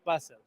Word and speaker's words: Basel: Is it Basel? How do you say your name? You can say it Basel.